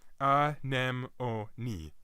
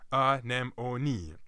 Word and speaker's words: anemone: I in mon but actually pronounced a four-syllable word known says ah nem o nee not an enemy or animal sm me but I nem Oni goodness if that feels